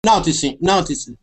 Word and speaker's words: noticing: Noticing. Okay, but the difference is you can also change that T to a D sound, saying noticing.